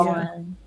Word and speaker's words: iron: For Iron- clothes, you make them flat. You have Yeah. kind of an Yeah. Iron. It's just Iron. iron on. Yeah, iron on. Like iron, like the metal.